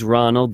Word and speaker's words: Rzzonald: You use Rzzonald, the Z is silent, to find a route to the place.